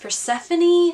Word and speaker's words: Persephone: didn't oh oh also Persephone is actually pronounced Persephone which I didn't know for the longest time